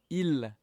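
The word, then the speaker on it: ils: Il, elle, pronounced the same as il, elle here, but now there's a s at the end, which means that it's plural, it's for a group, so it's they, okay?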